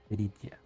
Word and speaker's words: Peritia: Peritia. I mean, I pronounce her how it's read. I mean, I pronounce it how I read it, which is how you will read it in Spanish.